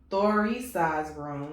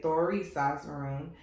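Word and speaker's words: Thurisaz: The Thorisaz rune, that's how you say it, Thorisaz rune, is the rune of the strong one.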